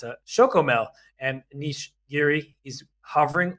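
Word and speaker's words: Chocomel: right they have this special brand in Holland shokomo oh sorry I I my apologies to all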